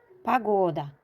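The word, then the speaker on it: пагода: Pagoda. Fikir verin. Vurgu ikinci O'ya düştüğü için. O kim okunur? İlk O vurgusuz olduğu için A kim okunur?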